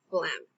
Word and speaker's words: phlegm: Note: the noun phlegm is pronounced phlegm.